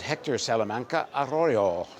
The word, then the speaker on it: Hector Salamanca Arroyo: immigration immigration policy of the various candidates is Hector salaman aroo did I pronounce it right you did so Hector is